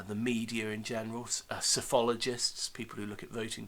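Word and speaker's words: psephologist: media in general uh cyphologists people who look at voting patterns um there's another key term for you there sophologist with a p uh at the beginning of silent p uh another term is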